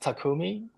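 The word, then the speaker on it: 匠: so then um in Japanese it's called It's pronounced takumi and there are some brand that's called takumi um but takumi is it means Master Craftsman it's you're high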